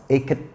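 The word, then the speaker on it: Eket: It's spelled Ike-E-T, Ike. but it's pronounced Eke.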